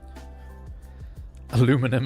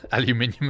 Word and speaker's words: aluminum: Aluminum is the better pronunciation. Aluminium is so dumb. Look, it's not a great name. I I'll give you that. But I'm I don't know. Aluminum just hits my ears wrong.